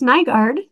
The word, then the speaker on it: Nygaard: Yep, it's Nygaard. Good Norwegian name, although they don't pronounce it that way.